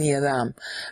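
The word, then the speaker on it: אדם: it's called man okay Adam doesn't have a dag in it so you have to say it like dth Adam not Adam Adam okay so it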